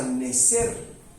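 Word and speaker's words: נזר: la cabeza ahora bien la palabra Corona es una palabra que viene del hebreo que se pronuncia necer necer necer propiamente dice algo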